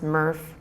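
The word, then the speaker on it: MERRF: DNA disorders um they're spelled out here and pronounced meas murf narp and liers hereditary optic neuropathy so while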